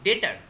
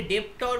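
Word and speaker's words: debtor: একটা ভাগকে লেখো ডেটার। ডেটারের স্পেলিংটা হচ্ছে ডিইবি টিওর। কেউ তাহলে ডেপটর উচ্চারণ করবে না।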